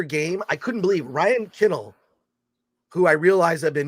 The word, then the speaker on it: Kennell: thought you were joking he says it's kennel and I was like okay kennel oh that makes sense I always said Ryan canal I just said the act I had the emphasis on the wrong syllable in any case uh